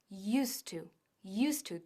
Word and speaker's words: used to: Cuidado con la pronunciación, used to, todo junto para que suene mucho más natural.